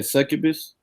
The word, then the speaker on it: succubus: Oh yeah, succubus.